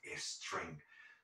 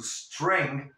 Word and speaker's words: string: Importante, la palabra string y todas las palabras que comienzan con S, tenemos la tendencia, cuando hablamos español, de intentar poner una falsa E delante de esa S y decimos string.